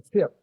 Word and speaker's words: fyrd: in the Anglo-Saxon dictionary, you won't find it because it's spelt there FIERD, and that'll give you a better view of the pronunciation. That's right, the firt.